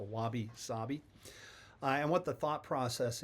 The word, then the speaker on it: wabi-sabi: Japanese art form called wabi sabi. It's a wab bi sabi. And I did some research to make sure that I'm pronouncing it correctly. Um the i's are pronounced as e. So wabi sabi.